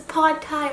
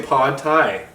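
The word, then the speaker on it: pad Thai: like a dork Ponte he says pod tight like Tide Pods I was raised Thai I was raised up to say pod Thai I was raised to say pod time well that's okay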